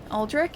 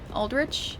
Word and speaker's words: Aldrich: lie to me me it's a regional pronunciation so aldri is French Origins Aldrich is other Origins and that dragon is